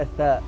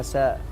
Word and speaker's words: ثاء: مثل النطق في الثاء ينطقونها ساء. نعم. في الذال ينطقونها زاء.